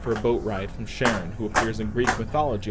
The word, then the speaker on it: Charon: likely the Greek pronunciation, but I'm going off how astronomers pronounce Charon when talking about the moon of Pluto with the same name.